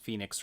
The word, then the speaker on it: Fenyx: It is now known as Immortals Fenyx Rising, and that's the name of the main character. Phoenix spelt with an F, not like the normal weird way you spell Phoenix, but F-E-N-Y-X.